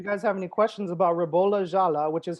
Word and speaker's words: Ribolla Gialla: So let us know in the comments if you guys have any questions about Ribolla Gialla, which is how it's pronounced, by the way.